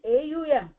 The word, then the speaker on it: Om: Krishna says I'm the syllable Om in the Vic mantras. All the Vic mantras starts with Om. Om is not O M. Om is a U M.